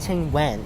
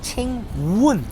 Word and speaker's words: 青雲: It's not Ching Wen, it's Ching Wun. Wun, it's Wun.